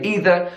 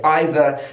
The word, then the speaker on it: either: one do I say I say both I don't know why I just I use both pronunciations and I don't know when I use them but I do sometimes I say either sometimes I'll say either